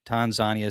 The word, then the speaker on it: Tanzania: all the way from Tanzania, which we usually say Tanzania. And I asked him, I'm like, "How do you say it?" And he's like, "It's Tanzania." So, the Tan the Tanzanian called it Tanzagna.